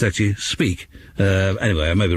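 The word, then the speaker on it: Apiky: of course um that you don't pronounce the final Y in whatever language it is they speak in Madagascar so rather than being speaky it's actually speak u anyway I may be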